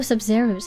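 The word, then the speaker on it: Sabzeruz: Oh, Sub-Zerus, that's how you say it.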